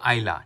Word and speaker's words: Islay: करते हैं इसलिए कोई कुछ लोग प्रोनाउंस करते हैं आइले लेकिन उसका करेक्ट प्रोनंसिएशन होता है आइला ये मुझे पहले से